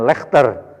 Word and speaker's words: Leicester: Inggris Ada Bahasa Inggris itu contoh misalkan lecester bacanya kan Leicester Leicester tidak disebutkan panjang itu jadi kadang ada